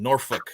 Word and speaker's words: Norfolk: I like saying their name, Norfolk, because that's how they say it.